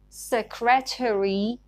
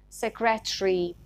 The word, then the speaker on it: secretary: Some words ending in eri are pronounced differently in British and American accent. In American accent, they are pronounced with one more syllable. So this word is pronounced secretary in American English, but in British English, it is pronounced secretary.